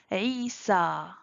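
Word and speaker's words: عيسى: Il y a le alif maqsoura à la fin, donc on prononce A. Moussa, Isa, Leila, Lubna.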